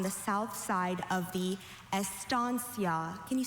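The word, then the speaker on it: estancia: Estansia. Are there any alternate pronunciations?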